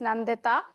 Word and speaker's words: Nandita: a reminder in case you are wondering how it's pronounced it's Nandita um I will be